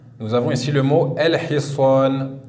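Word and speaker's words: الحصان: La lettre he, nous avons ici le mot el-hiswan. El-hiswan qui veut dire le cheval. Donc même remarque à chaque fois. Sur le lem, un soukoun, on l'écrit et on le prononce el-hiswan.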